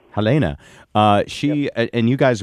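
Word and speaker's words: Helene: your wife is it Helen yeah it's it's from German so it's pronounced Helena Helena uh she and you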